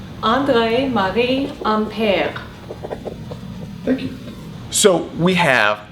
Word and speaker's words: André-Marie Ampère: So let's have my wife pronounce that name. André-Marie Ampère.